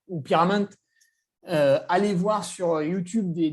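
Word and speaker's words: Pierra Menta: Ah ouais, et puis pour ceux qui ne connaissent pas la Pyramenta ou Pyramente, allez voir sur YouTube des vidéos. Donc, vous tapez Pierra, P-I-E-2-R-A, et Ment, M-E-N-T-A, parce qu'on ne prononce pas le A.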